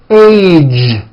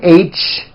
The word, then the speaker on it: age: the ends of words be sure to keep the voicing going throughout the whole word age it's not H it's age with a voiced ending College postage stage pledge